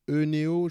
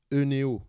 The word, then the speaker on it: Oeneo: Alors, Oeneo, c'est Eneo, je pense que c'est comme ça que ça se prononce. Eneo, d'accord.